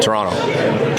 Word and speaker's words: Toronto: Toronto. Nailed it. You don't pronounce the second T. No T. It's like an N.